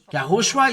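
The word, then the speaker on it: יההושֻׁע: YAHOSHUA is his name, and this is the way to pronounce it.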